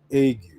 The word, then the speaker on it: ague: That's how it's pronounced, the burning ague that will consume the eyes and cause sorrow